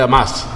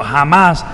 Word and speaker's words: Hamas: Es un partido el grupo Hamas... que es el gobierno, la H se pronuncia J, ganó elecciones locales.